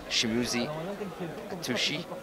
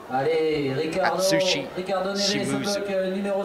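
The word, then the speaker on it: Atsushi Shimizu: And the first one will be Shimuzi Atushi. I'm going to get that name right eventually. I say it wrong a million times. Japanese athlete, you can see at the top left-hand corner of your screen now. Atsushi Shimuzu. Got there in the end.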